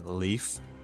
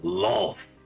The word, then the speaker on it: Loth: And he tries to pronounce Loth, and he pronounces it as a leaf. Yes, leaf, strong. I grab him by the throat and I go, Loth. And then he pronounces it correctly.